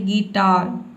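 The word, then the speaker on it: guitar: क्या करना है कि आधा र का जो साउंड है इसको साइलेंट रखना है, आपको बोलना है गिटार, गिटार अ का साउंड दे देना है, ठीक है।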